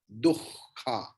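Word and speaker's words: दुःख: See, Dukha we can chant, but the actual pronunciation is Dukha, because after Visarga, Kha is there.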